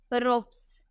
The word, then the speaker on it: ropes: नजर आ रहा है, एस से पहले आपको PE नजर आ रहा, तो इसका उच्चारण सौ में करेंगे, हम बोलेंगे रोप्स।